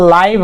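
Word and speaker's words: live: भी पढ़ते हैं तो इसका एक्चुअल प्रोनंसिएशन लाइव होगा क्योंकि एक नियम कहता है कि जब भी किसी शब्द के अंत में ई हो तो उसके पहले जो भी वल्स लगा हो उसका वही उच्चारण करते हैं जो इंग्लिश अल्फाबेट में किया करते हैं तो उ वहां पे आई को आई बोलते हैं तो यहां भी लाइ ही पढ़ेंगे ऐसे लीव भी बोल सकते हैं ये भी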